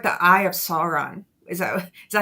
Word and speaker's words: Sauron: It's like the eye of Sauron.